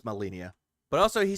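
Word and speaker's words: Malenia: keep forgetting the fucking name and how it's pronounced. Burning in my studio here. Snudio? Malinia. Okay, it's Malinia.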